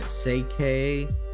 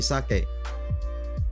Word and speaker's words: sake: right now uh I I always cringe when people say it's safe or seike or sake you know like like they like try to pronounce it really hard and honestly do it just sucked just to say sake don't say sake don't say sake say sake it's like you just have to say it fast you know all